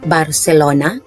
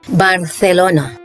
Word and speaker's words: Barcelona: In Latin American Spanish, the city is pronounced Barcelona, but if you're in Spain, you'll hear the locals pronounce it as Barcelona.